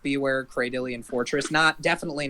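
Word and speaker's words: Cradily: Cradilly, thank you.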